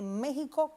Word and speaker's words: México: En el caso de México tiene algo muy interesante Yasmina y es que esa X la pronunciamos como J.